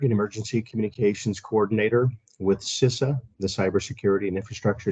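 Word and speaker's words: CISA: infrastructure Security Agency that's more easily pronounced sisa c-i-s-a the Wisconsin office of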